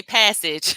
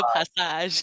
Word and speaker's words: passage: thing uh passage yes in English and American we say passage but it's a passage because it has the French influence from when they were you know colonized by France I think